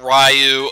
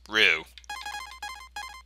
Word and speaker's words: Ryu: I'm going to pronounce it as Rue because, well, not Ryu or Ryu or anything, because from what I've heard, it's officially pronounced as Rue.